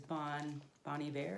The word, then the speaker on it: Bon Iver: Is Bon Iver, I think is how you say it.